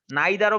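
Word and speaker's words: neither: নিদার নর মানে এটাও না ওইটাও না, নাইদারও বলা যাবে, এটার দুইটা উচ্চারণ, ঠিক আছে। নিদার নর এটাও কারেক্ট উচ্চারণ, নাইদার নর ওইটাও কারেক্ট উচ্চারণ।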